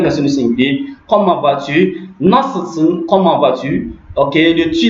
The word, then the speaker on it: nasılsın: Donc, nasılsın, c'est i là, ce n'est pas un vrai i. Il est prononcé entre le i français puis le u français.